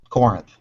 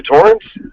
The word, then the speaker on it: Corinth: Yeah, not too far from like Corinth. You say Torrance? Corinth. Oh, okay, yeah. Corinth. Corinth. You gotta say it right.